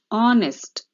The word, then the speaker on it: honest: silent letter is d honest the silent letter is h understood children so this